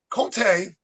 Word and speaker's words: Comté: So, uh, Conte.